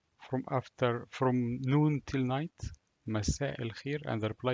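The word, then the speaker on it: مساء: Hamza is, it's like you're pronouncing A with a sudden stop.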